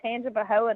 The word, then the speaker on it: Tangipahoa: Me And look, Josh you did was so good with pronouncing Tangipahoa tonight, too.